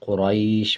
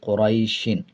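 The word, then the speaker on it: قريش: जब वक़फ़ करेंगे यानी आयत कंप्लीट करेंगे तो दोनों ज़ेर को साइलेंट कर देंगे और शीन की आवाज़ को आधा पढ़ा जाएगा, कुरैश पढ़ा जाएगा। और जब वक़फ़ नहीं करेंगे तो पढ़ेंगे कुरैशिन। जब वक़फ़ करना होता है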